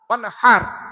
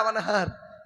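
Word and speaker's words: وَانْحَرْ: ওয়ানহার এই গলার ভেতর থেকে হে এটা উচ্চারণ করবে না, হাই হুটি, হাই হাওয়াজ নয়।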